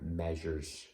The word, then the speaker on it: measure: things are measure measure okay it rhymes with feather wind rain or snow